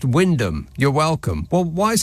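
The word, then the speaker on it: Wymondham: any help and Chris says why mondom is pronounced Windom you're welcome well why is it got so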